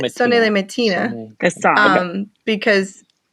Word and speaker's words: Sonnez les matines: So I say Sonnez les matinées, the song, because it's from the song.